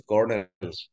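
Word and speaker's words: colonel: কর্নেল, উচ্চারণটা কিন্তু কলোনেল না, দিস ইজ, উচ্চারণ হচ্ছে কর্নেল, কর্নেল একটা সেনাবাহিনীর পদ।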